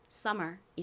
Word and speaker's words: summer: 가장 앞에 s가 왔죠. 그리고 뒤에 자음이 아닌 모음이었습니다.이 경우 s는 좀 세게 발음되는 경향이 있어요. 그래서 거의 쌍시옷에 가까운 소리가 나고요. 다음이 왔어요.이 하나 두 개나 똑같이 미움 소리가 납니다. 만약 뒤에 모음이 없었다면 UM은 엄 소리가 나서 섬이라고 발음이 될 텐데 뒤에 모음이 있죠. 그러니까이 미음은이 모음과 연결되어서 소리가 납니다. 그러니까 미음을 따로 써 주셔야 하겠죠.이 R은 무슨 소리가 나죠? 소리 나죠. 그래서 연결하면 summer이 됩니다.